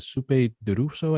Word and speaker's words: Sope Dirisu: And then I'm a big fan of I keep mispronouncing it, Sope Dirisu, I think is how you pronounce his name.